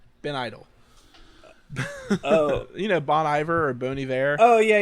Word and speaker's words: Bon Iver: like this uh the bony how do you pronounce that band ben idol oh you know bon iver or booney there oh yeah yeah oh i